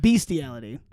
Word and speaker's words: bestiality: spell the word beastiality it's not Beast it's Beast allei so it's just b e s t i a yeah bestiality yeah but it's pronounced beastiality and you just remember